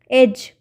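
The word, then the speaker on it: edge: जैसे पहला है एडज एज एज में डी जो है डी का साउंड नहीं आ रहा है तो डी के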